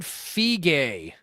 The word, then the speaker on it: Feige: Kevin Feige.